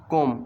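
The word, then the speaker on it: comb: के एम ओ दिया कोम कोम इसमें बी साइलेंट है इसको पढ़ेंगे कोम एन पड़ा ओ दिया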